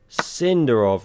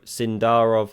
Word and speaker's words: Sindarov: Cinderov really let that one get away. Did not see that coming. Sorry. Sindarov, I should say.